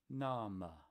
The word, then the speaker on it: name: in Middle English and you see name you're not gonna make the a say a and the e go away you're gonna say try it what would it be in Spanish something like nom the next word is